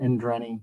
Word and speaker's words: Endreny: Endreny? Yes, Indreni. You can call me. Indreny. I'm putting the wrong emphasis on the wrong syllable.